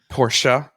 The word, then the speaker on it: Porsche: My realtor owns a Porsche, and she's a member of the Porsche Club, and she goes to North Carolina with her Porsche.